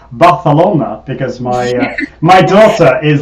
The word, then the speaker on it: Barcelona: uh the beautiful spain i should i will pronounce it correctly barcelona because my my daughter is learning spanish and